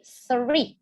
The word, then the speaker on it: three: Nah, kalau ada TH itu bacanya gitu. Jadi three. Nah, kalau TR itu bacanya ter, kayak ikan teri. Nah, gitu. Nah, itu three. Tapi nggak teri, dia T-nya nggak dalam-dalam banget sih.